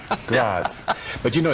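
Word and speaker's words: Graz: F it's fryborg but over there it is spelled g r a z right gr GRS grats but you know it's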